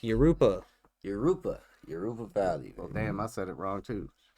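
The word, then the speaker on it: Jurupa: I'm like, Yoruba.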